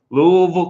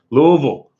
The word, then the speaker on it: Louisville: food factory Louisville and you said it right Tom Louisville Kentucky Louisville pretend like you got a mouthful of marbles Tom good to see